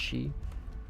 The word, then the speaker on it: Xi: Is that she pronounced she? Oh yeah, 100% dude.